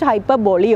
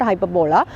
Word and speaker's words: hyperbole: is an exaggeration hyperbole it is to be pronounced hyperbole okay not hyperbola or hyperbole it is different hyperbole with an e l e okay it's a figure